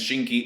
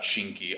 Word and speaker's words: Shinki: really know much about shinki other than his name is kind of funny at least to me because it rhymes with kinki and the movie boto